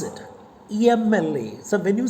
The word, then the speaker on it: MLA: But how do you pronounce it? MLA.